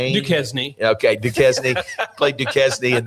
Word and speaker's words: Duquesne: Is it pronounced Duquesne? Duquesne.